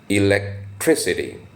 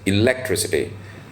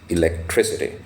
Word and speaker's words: electricity: as electricity now electricity the stress is on the syllable Tris electricity but some people also pronounce it as electricity but it sounds better with the standard pronunciation and uh which is this electricity money like any other